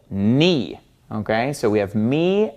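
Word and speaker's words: νι: have me and knee knee looks just like an English lowercase V okay so when you're reading something in Greek and you see this letter you're gonna want to pronounce it like a V sound but it doesn't make a V sound it makes an N sound this is knee knee so you got to get used to pronouncing this as an N me this letter makes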